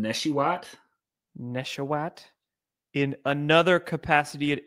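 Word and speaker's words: Nesheiwat: Neshiwat. Neshiwa. Neswat. I don't know. I think the T is silent. You got to get that Wah in there.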